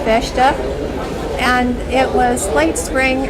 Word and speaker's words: festa: And I cannot now even remember why they had these, we would call them a fiesta. In Portuguese, it's pronounced festa.